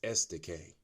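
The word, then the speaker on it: Estoque: It's kind of hard to pronounce, but it's Estacade.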